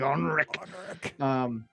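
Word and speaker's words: Henrik: His name is Onrik. You gotta say it like Onrik.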